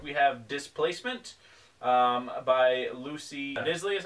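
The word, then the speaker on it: Knisley: have Displacement by Lucy Nisley, is how we're gonna say we pronounce it, because it has a KN, so that's like knife. I say Nisley.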